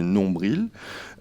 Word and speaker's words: nombril: avez à l'écran donc les trois premiers mots en français on peut prononcer ou pas le l donc c'est les mots persil sourcil et nombril ou qui peuvent se prononcer en français persil sourcil nombr donc je vais commencer avec